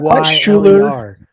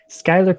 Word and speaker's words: Schuyler: say his name, but I think it's Skylar Krumer. Yeah, I still don't. How do you get that from that spelling though, man? Not quite Schuler. Schuyler.